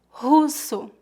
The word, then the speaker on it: russo: Lembre-se que o R em começo de palavras é pronunciado com a letra H no inglês. Russo. Observe que usamos dois S's entre duas vogais para ter o som S, como na palavra russo. Próxima palavra.